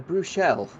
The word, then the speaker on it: Bruxelles: In the 7 and a bit years that I've done commentary, a Bruxelles. That is the way you pronounce it.